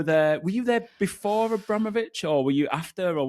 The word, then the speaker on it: Abramovich: a call from Abra Abramovich and his people saying um, the way to pronounce his name is actually Abramovic. You know, it's the Russian way.